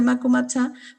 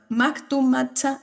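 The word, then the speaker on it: Mactumactzá: los estudiantes de la normal de Chiapas, de Macumatzá, para poder Mactumatzá, difícil de pronunciar, Mactumatzá, Sí.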